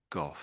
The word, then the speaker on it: Gogh: So the British say both these names exactly the same way, and both are Gough. Gough. So you could say Gof maybe, or double F perhaps.